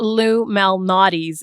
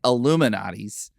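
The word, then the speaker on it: Lou Malnati's: can't pronounce it I just call it it's Lou Mel nais is the correct pronunciation we called it all kinds of different things while we were there I kept calling it illuminatis and I couldn't find it and then it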